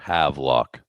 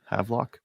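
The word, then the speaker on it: Havelock: Uh is this Havlock Sportsman's Club or Havlock? I'm going to say Havlock. Havlock. Havlock. That's how we pronounce it here.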